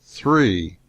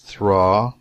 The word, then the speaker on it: three: So I spoke up and said, the peasantry pronounced the word three, not thraw.